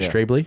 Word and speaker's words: Strabley: I think is it Strabley? Yeah. Is that how you say it? Yep.